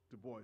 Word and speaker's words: Du Bois: in Liberia long before Du Bois. Du Bois, I like to pronounce it in the French have the S silent, right?